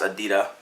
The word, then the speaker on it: adidas: adidas when I even adidas is called it's pronounced at DITA so Brooks edita New Balance South Guinea actually something doesn't make